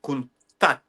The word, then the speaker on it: Countach: be pronounced. Lamborghini Countach is the pronunciation.